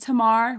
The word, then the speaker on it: Tamar: My name's pronounced Tamar with a short A.